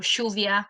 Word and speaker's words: lluvia: Also, the way we pronounce the double L, instead of lluvia for rain, we say lluvia or chuvia, which sounds very similar to Portuguese because we're next to Brazil, so there's a bit of influence there as well.